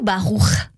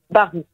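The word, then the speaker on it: Barouh: J'ai envie qu'on parle un petit peu de vous, Maya Barou. Racontez-nous. Déjà, est-ce que ça se dit Barou ou Barour? Barou. Barou, très bien.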